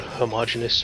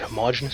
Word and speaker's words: homogeneous: 31 in of rolled homogeneous or homogeneous armor depends on where you're from and how you want to pronounce that I've always heard homogeneous so that's what I'm going with some countries still use